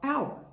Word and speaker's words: hour: These are both consonants, but you don't say a air or a hour, because first of all, the H in air is silent.